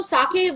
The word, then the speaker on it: sake: Sake and shochu, correct.